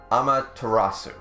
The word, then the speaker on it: Amaterasu: They believed it was, and I'll try again to pronounce this correctly, Amaterasu.